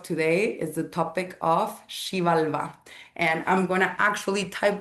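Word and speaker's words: Xibalba: And the topic of today is the topic of Shivalva. And I'm gonna actually type that in the chat because it's a difficult word. Shivalva. So you pronounce it like Shivalva.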